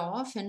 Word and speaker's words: often: E observem também que a palavra often, o T, ele é mudo, ele não é pronunciado, ok? Então, nós falamos often ou até na pergunta how often.